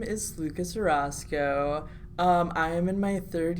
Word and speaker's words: Orosco: I have Gwen Robbins and Lucas. That's not it at all. I said it wrong. Correct me, man. Orosco. Orosco. See, yes.